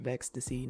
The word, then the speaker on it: Vexstacy: My name is Vex, full name pronounced Vexstacy, not Vex plus Stacy, and I've been drawing for over 10 years, and I've been in the furry fandom for over 10 years.